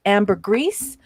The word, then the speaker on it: ambergris: the ambergris element now in the united states they pronounce it amber greece um uh but in